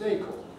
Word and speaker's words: acorn: usually there are these funny words like acorn which you might think ought to be pronounced for corn or bacon no it isn't it's acorn acorn it's drunk or my